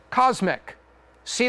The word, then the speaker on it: CosMc's: know what this is Cosmic see that there's a little McDonald's there and there's a golden arch right there this is the first location of cosmic this is pronounced cosmics focus on drinks a